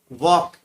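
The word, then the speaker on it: walk: Ninth में वॉक, इसमें L silent रहता है।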